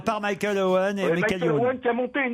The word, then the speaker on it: Michael Owen: Mais quand Il y avait Michel Owen, l'avant-centre de Manchester. Michael Owen.